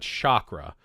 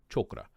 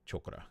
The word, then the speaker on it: chakra: Not chakra, chakra. And I'm pronouncing it like that based upon hearing someone who is Indian, hearing them speak and talk about it in videos. They pronounced it chakra. And I'm sure depending on what region of India you were from, you might pronounce that slightly different.